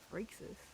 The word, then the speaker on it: Phrixus: Phrixus. Phrixus. Hell pronunciation.